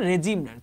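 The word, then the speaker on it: regime: Soviet রেজিম Soviet রেজিম উচ্চারণ রেজিম রেজিম রে জ ওকে জ সা সাউন্ড হবে এটা জ না না কিন্তু ডিউরিং দা সোভিয়েত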